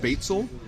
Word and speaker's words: spätzle: Well, I've heard it pronounced spätzle and spätzle.